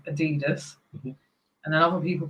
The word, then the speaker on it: Adidas: It's definitely Adidas.